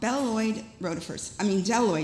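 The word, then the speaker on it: bdelloid: And they are called deltoid rotifers. They start with a B, but the B is silent.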